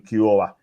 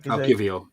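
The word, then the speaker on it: Kiwior: Like against Bournemouth, when Saliba got sent off, you brought on Kiora. I think it's called. I went to pronounce his name right. Kivio. Kivio, that's the way. That's the one.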